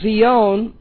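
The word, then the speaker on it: scion: It is spelled in English S-C-I-O-N, which is related to the Hebrew word zion. So the term for when the graft actually takes place is zion, or we more commonly say it in English, Zion.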